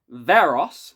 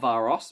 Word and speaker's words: Varos: Vengeance on Varos, not Varos, my mistake. Got to make sure I'm pronouncing that correctly.